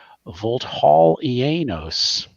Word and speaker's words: Vulthaulienos: an area known as and we're going to say it once and then the players have their own pronunciation of it Vault Hall ianos uh and they seem